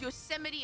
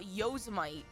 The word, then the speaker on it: Yosemite: Dude, why did it take me so long to learn that Yosemite was pronounced Yosemite and not Yuzimii?